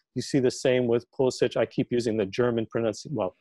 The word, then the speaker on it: Pulisic: You see the same with Pulisic. I keep using the German German and Slavic pronunciation because we're talking about Bundesliga, but Pulisic.